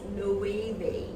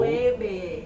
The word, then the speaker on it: Loewe: You say this as Loewe. Not low? Loewe.